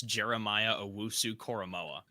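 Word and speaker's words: Jeremiah Owusu-Koramoah: for the ravens what's part two blake finally pronounces a name correctly on this show and it's jeremiah owosu koromoa well done blake congratulations thank you um so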